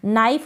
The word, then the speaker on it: knife: K जो है silent है, जैसे कि नाइफ होता है KNIFE, नाइफ यानी कि चाकू, उसमें भी क्या होता है, K जो होता है साइलेंट होता है, इसका प्रोनाउंसिएशन नहीं होता है।